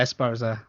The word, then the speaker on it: Esparza: love the saxophone and s pr is esparza is that how you pronounce it yeah esparza i think as far as it does it